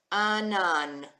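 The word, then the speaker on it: ענן: We've got our silent letter Ayin with our vowel. It takes on only the sound of the vowel.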